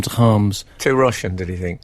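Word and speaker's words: Kharms: Now, how's this for pronunciation? Daniel Calms. Not very good. Oh. It's Daniel Harms. Harms.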